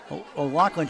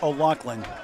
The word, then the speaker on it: O'Loughlin: O'Loughlin. O'Loughlin. Yeah, we've said O'Loughlin. It's O'Loughlin. So it's the hard G that's the important one.